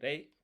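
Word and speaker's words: 零: So, zero in Japanese, it's There are three ways to say it. You can say rei. You can say maru.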